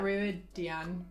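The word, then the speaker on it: Rhuidean: Ruidine? I say like Ruidian, I think. Ruidian. That's close.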